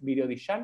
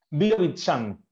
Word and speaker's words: Birobidzhan: a contar un poco, que es, siempre lo pronuncio mal, ¿cómo es? ¿Birodishan? No. Virovitchan.